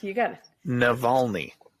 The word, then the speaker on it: Navalny: I should have picked one I could pronounce, but here I am on a podcast. No, it's Navalny, and it is on HBO Max, I believe.